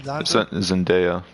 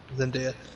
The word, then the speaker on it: Zendaya: Zendaya. Zendaya.